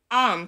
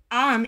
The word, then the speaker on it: Aum: Aum is pronounced by opening the mouth very well with the vowel A, rounding it with the U and closing it with the M.